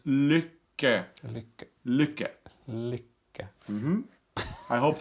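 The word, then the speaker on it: Lykke: happiness it means happiness in Norwegian and it's liquor look at mm-hmm I hope that helps that's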